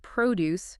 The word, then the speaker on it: produce: Like the word produce for fruits and vegetables. The stress is on the first syllable.